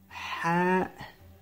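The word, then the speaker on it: ح: Es como, a lo mejor, te quemas, por ejemplo, si te quemas, haces. Ah, ¿no? Pues ese sonido es igual. Es el mismo.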